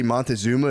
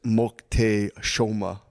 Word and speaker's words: Moctezuma: Apparently, the way you say Montezuma is Moctezuma. So if you hear anyone say Montezuma, say actually it's pronounced.